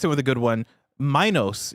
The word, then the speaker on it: Minos: Minos is how it's pronounced, not Minos.